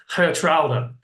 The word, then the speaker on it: Geertruida: Secondly, it's probably worth Villa fans knowing how to pronounce his name. It's quite a tricky one. It's actually Geertruida, which is very, very difficult.